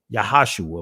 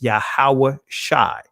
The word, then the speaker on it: Yahweh Shai: I understand his ancient Hebrew name and I use it, Yahweh Shai. Some of you guys would say Yahashua or Yeshua, but his ancient pronunciation of his name is Yahweh Shai.